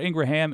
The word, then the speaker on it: Ingraham: by the way I used to say that name wrong Midas Touch corrected me thank you Laura Ingraham and Rupert Murdoch said about you do you